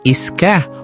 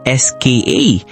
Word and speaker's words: ska: Ang bigkas nga dito eh iska o SKA.